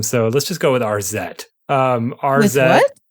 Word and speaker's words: Arzette: So let's just go with RZ. RZ. With what? RZ. Spell it.